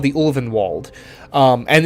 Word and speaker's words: Ulvenwald: something it's called the ulvenwald um and it is pronounced olvenwald and not orphan vault which is how it